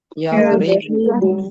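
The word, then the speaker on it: يضرب: Lam fi'ilnya harakatnya apa? Ba ya. Huruf huruf ba. Betul. Harakatnya apa? Lam fi'il domah. Domah. Tempel domah. Jadi bacanya apa? Yadribu.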